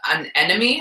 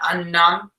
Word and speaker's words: anemone: I had violet and an enemy. How do you say that one? Anemone.